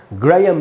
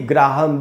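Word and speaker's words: Graham: ग्रेयम bell, न कि ग्राहम bell. या वो जो क्रिकेटर थे ग्रेयम गूच, न कि ग्राहम गूच। तो आप समझ गए दोस्तों, इसका उच्चारण ग्राहम नहीं है, इसका उच्चारण है ग्रेयम।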